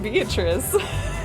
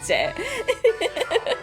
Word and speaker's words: Beatrice: The Italian pronunciation. I don't know. I got so used to pronouncing it Beatrice. And nobody corrected me. But now I know, because of me doing a little fan dub, that it's Beatrice.